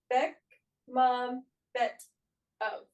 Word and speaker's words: Bekmambetov: Bekmambetov. So yeah, you guys are I did like pronunciation, and that's Beck Mom Bet of. So very close.